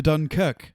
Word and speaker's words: Dunkirk: watched the trailer for Dunkirk Dunkirk coming out soon to a theater near you we have to go to D cook um that's how they say it that's how the British say it so this is a